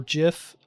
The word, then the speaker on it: GIF: but it actually is I personally don't care if it's called GIF or GIF I actually use both interchangeably just to piss people